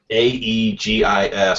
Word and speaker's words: aegis: um is it what is it just um a e g i s oh okay gotcha yeah yeah yeah he's he's